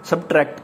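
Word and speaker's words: subtract: Next word आ गया सब्सट्रैक्ट, subs S जो silent है, सब्ट्रैक्ट कहना है इसको, ठीक है ना, सब्ट्रैक्ट जो है वो राइट जो वर्ड है, सब्ट्रैक्ट है, एस साइलेंट है।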